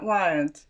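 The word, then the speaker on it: wyrd: way of the weird, but it's spelled W-Y-R-D. It wasn't spelled W-E-I-R-D. More like wired. Yes, it sounds like wired.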